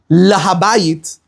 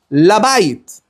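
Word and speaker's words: לבית: You don't say lahabayit, I'm going to the house. You go labayit, right?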